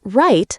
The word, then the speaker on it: write: Like right and write sound the same, but they're spelled differently.